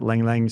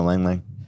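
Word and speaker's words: ylang-ylang: Now, you mentioned a couple there that are very popular, Lang Lang, spelt with a Y.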